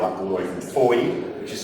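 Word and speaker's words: Fowey: and you've traveled up all the way from Foy, which is spelled F O W E Y by the way.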